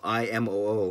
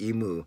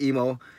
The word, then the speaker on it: Imoo: the way it's spelled, I get a lot of Emu and, which I get because the way it looks. And actually in Japanese, the double O, you say every syllable, every vowel, so it's actually Imo. So that sounds kind of funny though. It sounds like I don't know how to speak. So I go with Emo, and I'm going to put